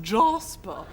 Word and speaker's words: Jasper: a black Labrador called Jasper pronounced Jospeh come here I think